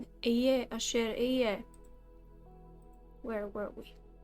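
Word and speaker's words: אֶהְיֶה: This is how you pronounce it. Eye, asher eye. I will be who I will be. Rather, you know, not Aya, asher Aya, because Aya is a correct word.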